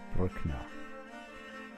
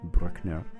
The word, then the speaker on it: Brückner: Today is episode 19 with Oskar Brückner.